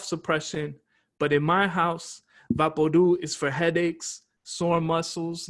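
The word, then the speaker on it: VapoRub: i'll tell you afterwards no vaporu vaporu is pronounced vapordu like loud or true the label for vaporu says it's for cough suppression but in my house vapordu is for headaches sore muscles nightmares and everything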